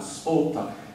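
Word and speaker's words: sphota: Sorry for bombarding with bits of Sanskrit, but it's a lovely word, that Spota.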